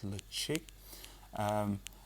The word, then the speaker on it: Ledaig: which hopefully I'll get this right, which is Ledaig, even though it's not spelt that way, Ledaig, but hopefully I've got that right. They pronounce it as Ledaig, and then it was kind of reopened and